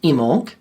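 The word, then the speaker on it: Imbolc: It's spelled I M B O L K, but it's pronounced emoj.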